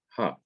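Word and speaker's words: הַ: me explain the difference normally the definite article is a hey followed by the short vowel a thug and it is pronounced ha but when the definite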